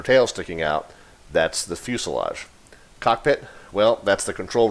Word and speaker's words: fuselage: this is infused love okay it's pronounced fuselage if you imagine a plane without any of the wings or tail sticking out that's the fuselage cockpit well that's the